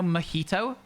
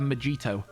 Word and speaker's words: mojito: you know mojito uh it's got a J in the middle the drink a Mojito um I heard somebody in a shop in the the north of the UK calling it a magito with pronouncing the J and I don't know if they were joking or if that's how they did the pronunciation but if you don't know that the J is an H if you just read